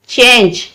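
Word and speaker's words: change: में नून और जी, ये ई जो है वो साइलेंट हो जाता है तो जी के साथ जीम लगेगा, तो ये क्या बन जाएगा, चेंज, चेंज।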